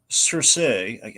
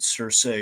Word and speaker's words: Cersei: So we go into Pokastan to protect Princess Alana from Cersei. I really, is it just me or is it weird to you as well that we're pronouncing it Cersei instead of Cersei?